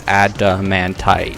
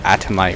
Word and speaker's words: adamantite: It's adamantite, not atomite or adamtite or adamatite, adamantite.